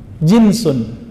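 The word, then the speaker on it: جنس: Jinsun. Jins. Apakah Anda memakai celana jeans, Tuan? Itu sesuatu yang sama sekali berbeda. Diucapkan Jans. Dan yang ini adalah Jinsun ja, jim nun sin.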